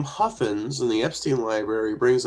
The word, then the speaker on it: Huffines: Huffins, I think, is how it's actually pronounced.